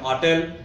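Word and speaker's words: hotel: अँड हॉटेल, हॉटेल या शब्दाचं आपण उच्चारण करतो, in fact that is नॉट हॉटेल, that is हॉटेल, एच is silent there.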